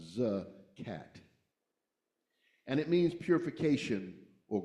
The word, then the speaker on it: zakat: And in Islam, there's a practice called zakat, pronounced or spelled z a k a t, but pronounced zcat.